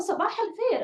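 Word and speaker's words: صباح الخير: Oh, sabah al-khair.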